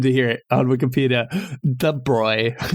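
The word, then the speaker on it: de Broglie: De Bruy is how the computer says. Yeah, but de Bruy apparently is there's a clip of Fineman pronouncing it debrogier and he's like, I'm a terrible American and that's how I pronounce it. And I don't know, that's always stuck with me, but that is how I learned it is drogier, but I know that's not right.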